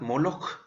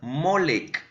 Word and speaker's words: Moloch: Moloch, por la pronunciación europea, por así decirlo, pero también pueden encontrar Molech, por ejemplo, Molec. La verdad es que en la antigüedad, no siempre, pero se solía usar en estos ambientes solo las letras consonantes, es decir, se encuentra escrito como MLK y de ahí la pronunciación llega a ser hasta cierto punto cercana, aunque no siempre tan exacta.